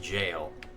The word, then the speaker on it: gaol: Gaol is pronounced jail.